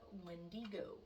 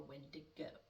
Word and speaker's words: Wendigo: Number one, as I just mentioned, we're going to talk about the Wendigo or Windigo. I will be calling it a Wendigo. The Wendigo I'm going to stick with Wendigo for me, for my personal pronunciation.